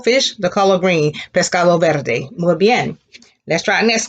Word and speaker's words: verde: now the word for green is verde repeat verde and there are those where your tongue will